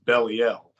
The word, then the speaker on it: Belial: know the term B they say that the original pronunciation is bellel and that they they coined it as be l in order to incorporate the word lie into his name and it says in